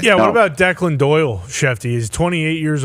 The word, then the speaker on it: Declan: Yeah, I would assume it's Declan, not Dickland.